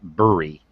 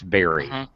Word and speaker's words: bury: a homophone well homophone homonym of berry like you eat a berry they actually sound the same um everyone tries to pronounce it brewery but it's not buried it's barry okay we decided to